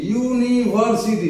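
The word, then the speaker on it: university: ঠিক আছে তারপরে দেখো ইউনিভার্সিটি ইউনিভার্সিটি ইউর উচ্চারণ ক্লিন ইউ এর মধ্যেই আসছে এখানেও এ ইউনিভার্সিটি নেক্সট দেখো লেখা আছে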